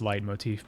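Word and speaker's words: leitmotif: it that way I I know it's supposed to be pronounced light Motif by the way but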